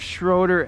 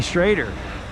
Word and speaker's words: Schroeder: All right, we got our Jeff Schroeder axe. I'm trying to practice Jeff's name because I always say it wrong. I won't even say it wrong. Schroeder. You say Schrader.